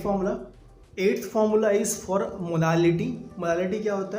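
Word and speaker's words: molality: मोलालिटी यहाँ पे L है, ठीक है। मोलालिटी नॉट मोलारिटी, मोलालिटी है यहाँ पे।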